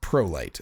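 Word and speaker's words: Prolycht: sounding spelling of a name uh but it's pronounced prolight uh p-r-o-l-y-c-h-t and if you go to hot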